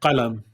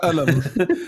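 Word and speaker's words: قلم: It's like alam for us, like pen. Yes. Yeah. You would pronounce that differently, the two of you, right? Qalam. Qalam. Yeah. Alam for me. Yeah. You have alam as well? Yeah. It's because the cough sound.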